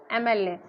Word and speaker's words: MLA: क्योंकि हमारा एम है, ए से आप प्रोनाउंस कर सकते हैं एम, न कि यम, यम नहीं है, यमल्ले नहीं है, इट्स MLA।